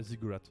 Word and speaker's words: ziggurat: think it's pronunciation yeah ziggurat so basically cigarette with a Z yeah that thing that's